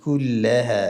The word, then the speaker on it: کلها: ایلامی که بعد از کاف واقع شده شد دام داره باریک نطق شوه بدون قطع صدا و شدش مراعات شوه. کلها. ها این مد طبیعی از دو حرکت و ها الفی که بعد از ها واقع شده است ها نشوه.